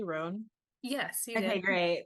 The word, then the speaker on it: Roan: you my new friend ran did I pronounce that correctly ran yes you did okay great yeah I was